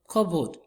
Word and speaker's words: cupboard: The next one, cupboard. The stress syllable is what? Cup.